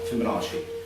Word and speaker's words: Fibonacci: It's related to the Fibonacci sequence, which I probably just mispronounced, because I'm not very good at pronouncing things. Fibonacci? Fibonacci? I don't. Which one? Oh, Fibonacci.